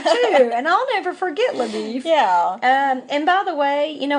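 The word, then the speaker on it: LaBoeuf: It looks like it would be pronounced Labeuf or something. But I did read one commentary, and they said they think that they mispronounced his name as Labeef, kind of as a to poke fun at him because he's from Texas. Because he's a Texan, and they're associated with cattle.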